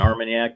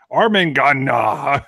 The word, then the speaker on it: Armagnac: you ever had an Armagnac mark yeah yes yeah I know just kidding blind I did a blind and didn't know what and then I pronounced it arming gun nah it's like baby speak God that was embarrassing